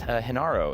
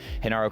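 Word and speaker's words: Genaro: name wrong actually, and I think it's Hinaro. Is that correct? I'm so sorry. I think I might have said Gennaro yesterday, but Hinaro, congratulations on that.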